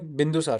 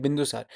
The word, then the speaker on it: बिंदुसार: चंद्रगुप्त मौर्य के बाद एक दूसरे रूलर थे, वो थे बिंदुसार, ठीक है, बिंदुसार, सॉरी मैं गलत प्रोनाउंस किया, बिंदुसार, ठीक है।